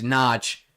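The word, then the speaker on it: Nagy: Thanks for the pronunciation of Nudge is Nudge.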